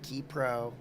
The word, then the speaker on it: Ki Pro: is it kypro is it kpro is it kpro it's actually kpro and it's actually Aja so